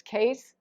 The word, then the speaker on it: Qase: It's Qase. It's That's right, it's spelled, Case.